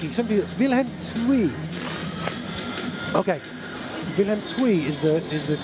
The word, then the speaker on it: Willem II: Okay, Willem II is the correct pronunciation.